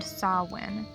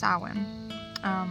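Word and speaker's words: Samhain: God that was named sawwin it is spelled like this but it is pronounced Sawan or so in I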